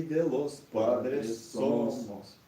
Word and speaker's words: somos: De la patria y de los padres somos. Здесь опять же Somos. somos, мы говорим somos, опять ударение смещаем, и tierra.